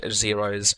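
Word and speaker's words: Xaero: mod here so let's go ahead and download xero's minimap so i'm going to search for xero which is spelled x-a-e-r-o and then download the mini-map mod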